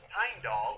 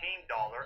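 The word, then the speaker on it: Heimdallr: this breakdown would be from the very top pine doll or hain dollar as it's actually pronounced is a god who's cheaply responsible for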